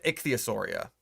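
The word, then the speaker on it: Ichthyosauria: Ichichchthosauria. Not itch. They're not itchy. They're icky.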